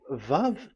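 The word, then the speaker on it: ו: So the word, the shape Vav is really pronounced V, like Vogue. That is it, pronunciation. So here in this side, it's pronunciation. This is pronunciation. So according to the old Hebrew word today, those who the owner of the word, I mean, so it's a V. So don't change it into W, and you will say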